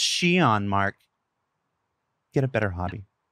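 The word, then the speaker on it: Xi'an: And if your instinct was to stop the YouTube video and go immediately to comments and say, it's pronounced Xion, Mark, get a better hobby.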